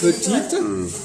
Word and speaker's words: petite: Et après, là, par exemple, petite, E après la consonne T, on dit T. Le T existe.